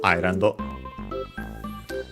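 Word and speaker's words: アイランド: Yeah, it's on the first I, so the first syllable, Island.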